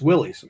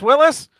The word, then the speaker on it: Willys: like you seen this willis it's not a willis it's a willys it's a willis it's